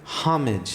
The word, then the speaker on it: homage: The H is silent.